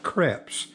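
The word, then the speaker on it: crêpes: pancakes or french crepes they call it crepes a long e okay thank you for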